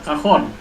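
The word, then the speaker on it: cajón: Iya kayak kahon bukan kajon itu kahon.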